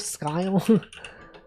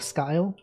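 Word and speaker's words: Skye: Wasn't there an aisle of skyle? Is that not a thing? Isleisle of Seagale. Is that pronounced sky? The aisle of skyle. It's like pretty similar, right? Sky. I guess it's sky, not skyle.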